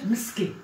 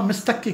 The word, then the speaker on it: مستكة: مستكا اهم شيء مستكا بس تقولي مهلبيه يعني مستكا نغمه مسكي مسكي مسكي ما بعرف ايه بسموها مسكي بس بقى بلاد ال بتكتب بالتاء بس بتلفظ مسكي فهيدي المسكي مثل ما